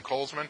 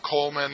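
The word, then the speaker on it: Kollsman: mercury that you're setting there's two L's in Coles Minh it's not Coleman like the camping stove company that's cold man Co le ma n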